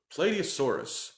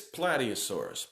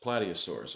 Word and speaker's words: Plateosaurus: is its name for the longest time I pronounced incorrectly I refer to it as play D asaurus play D asaurus because the word is spelled